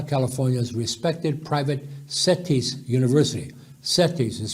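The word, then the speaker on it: CETYS: degree from baja california's respected private settis university settis is spelled c c-e-t-y-s and its partner saint cloud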